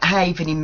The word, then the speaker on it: havening: Okay, the original event havening method effectively works by permanently removing specific receptors within the brain pathway, holding the biological imprint of a past trauma.